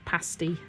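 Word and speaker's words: pasty: earlier how to say the word pasti cuz a lot of people when they see pasti written down P A S T Y which is like a pastry in the UK a very common kind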